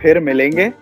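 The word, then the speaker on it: پھر ملیں گے: really close yes but it's called pir melenge see you later or we'll meet again yeah okay just repeat it after me it sounds like merengue you know if it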